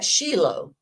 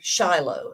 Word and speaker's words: Shiloh: Ark of the Covenant at Shilo or Shiloh as English people generally pronounce it now as far